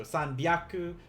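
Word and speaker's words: 三百: still going to be instead of the h they use a b and instead of a um h they use a p here so sanbiaku wrote and i'll combine them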